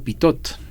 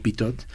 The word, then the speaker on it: Pitot: es un pequeño tubito que se llama tubo pitot. ¿Cómo se escribe?